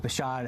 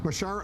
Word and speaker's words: Bashar: can see a stable and peaceful Syria with bashad Al Bashar Al Assad in in charge Bashar al- Assad I know you've mispronounced his name a few times but uh